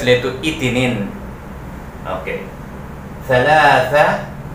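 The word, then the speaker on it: ثلاثة: Thalatha. Yan. Silent H. Silent T. Thalatha. Mayroong TH. Thalatha. Mayroong TH. Actually, dapat mahaba ang A. Lagyan natin ng isa pang A. Palatandaan, mahaba ang pagbasa ng la. Thalatha.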